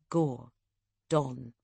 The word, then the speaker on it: Gordon: She pronounced it as two words, Gore. Dawn.